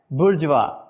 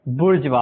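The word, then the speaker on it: bourgeois: और वर्ड है बजवा स्पेलिंग है बी ओ यू आर जी ई ओ आईएस लेकिन प्रोनाउंस कुछ और ही हो रहा है बुर्ज वा इसे अमेरिकन और अमेरिकन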